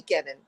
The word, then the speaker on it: Kenon: But people pronounce it Kenon and it really phonetically should be Kenan.